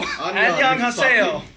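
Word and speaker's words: 안녕하세요: Annyeonghaseyo.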